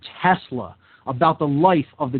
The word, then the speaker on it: Tesla: is performed using a Tesla coil, a Telsa coil, as I used to pronounce it back in those days.